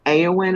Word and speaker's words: Eowyn: Okay, AngelEowyn, but it's with an E Right. after Angel, even though it's an E, it's an Eowyn is the way she says it.